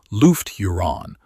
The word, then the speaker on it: Lufgt Huron: Lufgt Huron, pronounced Lufgt Huron, was the Chapter Master who began withholding the